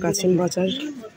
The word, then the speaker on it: কাসিমবাজার: একটা ইতিহাস আছে হ্যাঁ বাংলাতে কাসিমবাজার বলে আর ইংলিশে কসিম ওরা কেন উচ্চারণ করতে